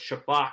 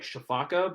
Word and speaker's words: sifaka: Was the lemur that was was the shafak that was Zaboomafoo. That's the species, a shafak lemur. SIFA. It's SIFAKA. It's like Shafaka, but it's actually pronounced Shafak.